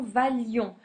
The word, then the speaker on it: valions: On supprime le i et on supprime un l, hein, la prononciation valions, que vous valiez et qu'il vaille.